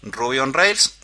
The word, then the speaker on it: Ruby on Rails: rails o rails cierto en realidad se pronuncia así rubion rails enter y Perfecto ahí